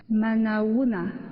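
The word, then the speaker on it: Manao ahoana: Manaouna. C'est ça? Je prononce bien.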